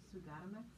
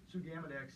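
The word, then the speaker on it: sugammadex: Can you talk about the use of, I'm probably gonna mispronounce it, Sugatimex? Sugamidex, yeah.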